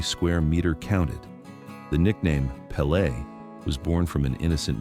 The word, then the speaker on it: Pelé: For Pelle, football wasn't just a pastime.